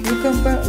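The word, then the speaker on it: cucumber: Кьюкамбер на буковку С. Кьюкамбер С. Кьюкамбер. Нет, буква С, она считается в начале слова К.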